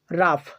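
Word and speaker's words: rough: যেমন রাফ, রাফ, টাফ, টাফ, কফ, কফ, এনাফ, লাভ।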